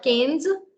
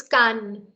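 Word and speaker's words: Cannes: that you might have heard about is not canes it's Khan then yes all of these different cities and every uh pronunciation is I mean a few interesting facts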